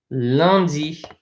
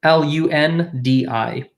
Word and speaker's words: lundi: L-U-N-D-I. Lundi. Okay. I will point out a couple things for pronunciation. Anything with a U-N in French is pronounced un.